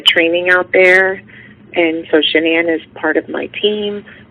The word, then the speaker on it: Shanann: Shanann. Shanann, okay.